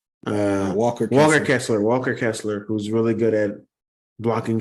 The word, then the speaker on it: Walker Kessler: Wester Kessler. I don't know. I'm saying his name wrong.